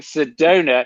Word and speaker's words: Sedona: So me saying Sedona.